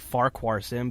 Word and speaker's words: Farquharson: It looks like it's spelled Farquharson, but when I went over to Scotland, they pronounced it Farquharson clan.